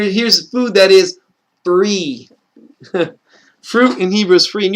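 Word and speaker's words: פרי: hebrew is called free free is how you say fruit in hebrew because that's exactly what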